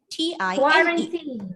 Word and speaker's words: quarantine: And then Q-U-A-R-A-N-T-I-N-E. Quarantine. Quarantine. Quarantine. Quarantine. Which syllable is stressed here? First syllable.